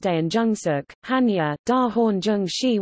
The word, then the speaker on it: 대한중석: Korea Tungsten Company, KTC, Korean, Daeanjungsog, pronounced Daeanjungsuk, Hanya, Da Horn Jung